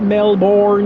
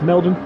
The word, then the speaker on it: Melbourne: It's not Melbourne, it's Melbourne. MLBN, Melbourne.